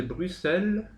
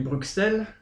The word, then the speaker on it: Bruxelles: chanson exactement parce que on dit nous on dit Bruxelles oui mais en Belgique on dit Bruxelles voilà et en Belgique ils disent Bruxelles donc c'est une question de prononciationell Bruxelles en Belgique c'est BR r u 2 s e L S d'accord Bruxelles d'accord donc ça fallait